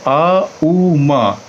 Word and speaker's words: ओम: अब हमने आ उ मा इन तीनों शब्दों को संधि करके हमने ओम बना दिया है। वैसे ये बेसिकली इसका उच्चारण जो है ओम ना करके इसका सही उच्चारण है आउम।